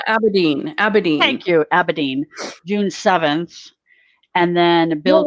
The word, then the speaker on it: Abedin: huma abe adibem or adame right i can't pronounce aberdeen abedin thank you abedin june 7th and then bill where's winger why